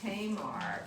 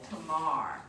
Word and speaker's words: Tamar: I always called it Tamar, but the proper Jewish pronunciation is on the last syllable, Tamar.